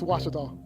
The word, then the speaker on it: Ouachita: it's washita baptist university get it right it's watertall people it's washata free basketball washita and